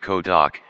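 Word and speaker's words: Cơ Đốc: In Vietnam, the same two characters read Ko Doc, and a follower of Christianity is a Tin Du Ko Doc Jiao.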